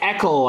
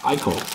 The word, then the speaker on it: Eichel: Jack Eckel, I believe is how you say it. For the Golden Knights, Vegas for Joe. 219 out of 249. Eichel.